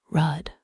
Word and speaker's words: road: He said rudd for road, deon for down, and gave an indescribable twist to the word garden, best spelled garden.